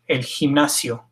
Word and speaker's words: gimnasio: If it's followed by I or E, it's pronounced like an H in English, el gimnasio.